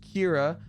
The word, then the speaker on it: Kira: I've caught a stream my name is pronounced Kira uh and I just want